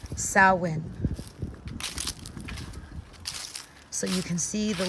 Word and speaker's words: Samhain: the sabbath for witches and that is salwin of course i will spelt samhain i'll put it on the screen but it is pronounced sawwin so you can see